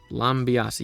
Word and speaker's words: Lambiase: So McLaren F1 hired Gianpiero Lambiase, who I hope that's how you say his name. Lambiase, yeah.